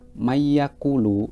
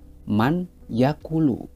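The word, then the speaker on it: مَن يَقُولُ: Di situ pada kata mayyakulu itu sebenarnya man yakulu. Tetapi karena ini adalah bacaan idhom bihunah, maka nun sukunnya itu langsung dimasukkan ke huruf ya.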